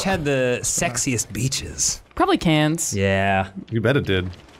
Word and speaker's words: Cairns: to where which had the sexiest beaches probably cans yeah you bet it did everywhere has the